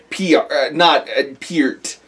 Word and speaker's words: Peart: Well, it's like how we just realized that we've been saying Neil Peart's name wrong for the last however many years. Oh my god! And I feel terrible. It's Peart.